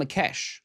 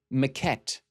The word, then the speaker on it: maquette: When Sebastian shows up, Catherine tells one of the masseuse, Taksa Makesh, but Mimi corrects her. Maquette, not Makesh.